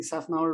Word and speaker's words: Safnauer: Am I pronouncing Safnauer right, Andrew? Man, you nailed it.